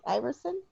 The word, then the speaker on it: Iversen: Kristen Iversen, did I say your name right? Iversen?